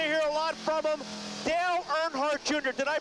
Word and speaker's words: Dale Earnhardt Jr.: Dale Earnhardt Jr. Did I pronounce that right?